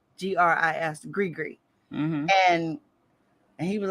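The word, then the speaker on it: gris-gris: up how to print how to pronounce it because g-r-i-s-g-r-i-s grigri and he was like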